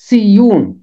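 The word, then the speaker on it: صیون: لفظ کوہ مقدس سیون، اس کا تلفظ ہے سیون، 2 باب کی 6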